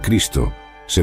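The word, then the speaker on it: Χριστός: el Cristo la frase clave Yo soy el Cristo se pronuncia ego eimi J cristos el término cristos se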